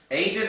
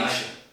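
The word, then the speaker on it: Aizen: The next one is Madara from Naruto versus, I don't know how to pronounce his name. Aiden or Aiden? From Captain Bleach. Eisen.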